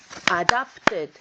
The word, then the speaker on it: adopted: what about this word this word is adopted adopted how many syllables was that adopted that was three syllables adopted with the stress in the middle syllable why did abandon not change